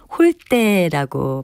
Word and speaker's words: 홀대: 발효 하는 것이 좋을까요 이 경우에는 홀 때 된소리로 발음하는 것이 맞습니다 여기서 쓰이나 한자 대접할 대 짜는 우대 나 황 대화 같이 앞 음절이 모음으로 끝나거나 니은 받침으로 끝날 때는 글자 처럼 내에서 소리인 대로 발음 하지만 적대 나 홀 떼와 같이 4 흥 마침 이외에 받침이 올때는 된 소리인 때 로 발음합니다 홀 때는 타 대접